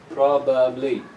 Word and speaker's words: probably: Same thing with this word here, probably. This first syllable is the strong one, so the ba of the second syllable becomes weak.